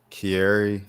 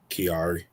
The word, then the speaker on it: Kiari: Um uh Offset Kierry or Kari, how you say his name? Kiari.